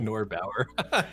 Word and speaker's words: Norbauer: Norbauer.